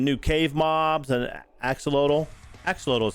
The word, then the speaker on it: axolotl: gonna be some new cave mobs and axolotl axolotl is how you say it that's right and